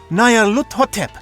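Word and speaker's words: Nyarlathotep: This phrase is pronounced Nayar-hut, or more likely, Lut-hotep. Nayar-lut-hotep, that's it!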